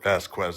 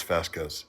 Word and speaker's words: Vasquez: I said Pasque Quz. It's Vasquez. I I know.